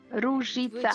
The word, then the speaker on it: Ruzica: journey with, she's going to correct me again, Rugita. Ruzica.